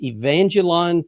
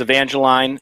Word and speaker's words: Evangeline: you have to clarify is it evangelion 12 linnell uh so yes this is evangeline it's the uh 12th